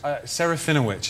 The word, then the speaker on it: Serafinowicz: How do you pronounce it? Serafinowicz is how I do it.